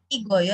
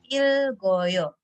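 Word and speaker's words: 읽어요: Jadi ikta ketika bertemu dengan oyo, membacanya bukan igoyo tetapi ilgoyo gitu kan.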